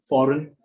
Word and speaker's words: foreign: Even at the end, same, the combination GN at the end. For example, common words like campaign, design, foreign.